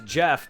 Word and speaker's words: Geoff: There's a character whose name is Jeff, but it's spelt Geoff.